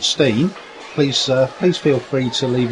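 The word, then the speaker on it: Steine: And the area there also, the roadway around there was called the Old Stein, or some people pronounce it the Old Stein.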